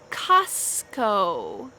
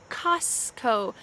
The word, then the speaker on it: Costco: subway subway ikea ikea costco costco notice that t is often silent sometimes we might say costco but usually we just